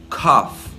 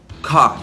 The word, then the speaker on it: cough: Em inglês, a palavra tossir, você pronuncia assim, cough, cough. E a palavra café, você diz coffee, coffee.